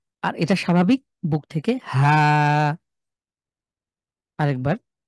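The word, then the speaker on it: حاء: হাটাকে কণ্ঠের ভেতর থেকে, হা, হা। কণ্ঠের চাপ দিয়ে, কণ্ঠের ঠিক হা।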